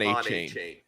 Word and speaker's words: Achane: Achane, I'm still adapting to that one.